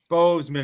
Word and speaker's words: Boseman: So when it's Chadwick Boseman, or right, Boseman, is that how you say it?